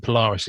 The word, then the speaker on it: Polaris: I wasn't sure who it was, to be honest with you, but Polaris is how you say it.